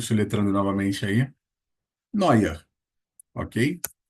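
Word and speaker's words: Neuer: Então, e com o som de Oi. Quem curte futebol, nós temos lá o goleiro da seleção alemã, Noia.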